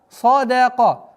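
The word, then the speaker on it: صَدَقَ: Ва садака. Нужно обращать внимание, что так как даль у нас мягкий звук. Садака, нет, садака.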